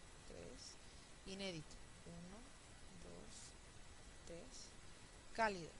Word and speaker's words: cálido: inédito un dos tres cálido uno cálido uno dos tres fanático un dos tres